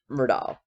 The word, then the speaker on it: Murdaugh: However you want to pronounce it, I get corrected on every video that I do, but I'm going to pronounce it Murdaugh.